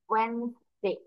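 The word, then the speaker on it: Wednesday: তাহলে এটা হচ্ছে তার খুব ভালো একটা এক্সাম্পল, ওয়েনসডে। ওয়েনসডে প্রোনাউন্সিয়েশন কি করবো অলওয়েজ, ওয়েনসডে।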